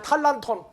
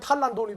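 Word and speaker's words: τάλαντον: 그건 또 헬라어는 뭐라고 되어 있어요? 다 같이 탈란톤. 이게 잘못되면 탈란돈이 돼버린다.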